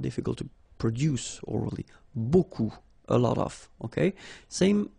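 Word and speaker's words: beaucoup: If you want to use buku means a lot of it look it looks a bit strange buu like that remember you don't pronounce the final p okay and then you've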